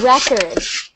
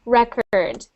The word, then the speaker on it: record: then there is a record a record which is a noun so a record is a noun okay but they have a different sound there's record and then there's record okay try saying that